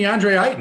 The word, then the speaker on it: DeAndre Ayton: slate is incredibly tasty the chat thinks i'm pronouncing his name wrong the chat is wrong imagine thinking that i care what you think about my pronunciation it's going to be deandre heighten he's going to light